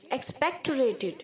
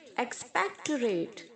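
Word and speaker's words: expectorate: है एक्सपेक्टरेट एक्सपेक्टरेट एक्सपेक्टोरेटिंग अगर आपको इसे प्रोनाउंस करने में दिक्कत हो रही है तो आप बोल सकते हैं ऐड रेट एक्सपेक्ट तू रेट okay एक्सप्लॉयड exploded exploded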